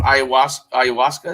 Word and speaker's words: Ayahuasca: Ayahuasca, is that?